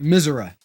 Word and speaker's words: Missouri: drive out but um everybody that lives in missouri which is how it's supposed to be pronounced calls it misera i don't [ __